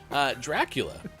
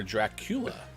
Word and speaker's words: Dracula: Dracula, or Dracula, depending on how you put the emphasis on which syllable.